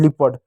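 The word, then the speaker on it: leopard: गया लिपर्ड हो गया, ए साइलेंट हो गया लिपर्ड, ठीक है।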